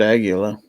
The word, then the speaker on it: Aguila: I asked the guy at the booth it's pronounced Aguila yeah case gauge fell on the floor yeah